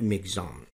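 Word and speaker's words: Michaung: बात तो यह कि अखबारों में इस तूफान को जो नाम दिया जा रहा है वह है मि चंग लेकिन रेडियो न्यूज़ में जो इसका उच्चारण किया गया है वह है मिग जाम मिग जाम अंग्रेजी में जो इसकी स्पेलिंग है वो है एम आई सी एच ए यू एन जी लेकिन आकाशवाणी का उच्चारण है मिग्जन इसमें हम किसे सही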